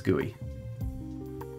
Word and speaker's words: GUI: UI right but a a GUI is gooey am I the only one that does that wait a minute the thing is three syllables GUI that's H that's word salad they're not even words but gooey two syllables clean gooey they flow UI UI flows GUI G no that's